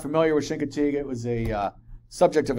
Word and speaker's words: Chincoteague: Chincoteague. Chincoteague.